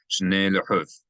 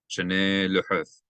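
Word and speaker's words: שְׁנֵי לֻחֹת: Shnei lehuth, shnei lehuth. You do want to elongate this because there's a method that tells you to elongate, to accent that syllable. Shnei luhuth avonim, stones.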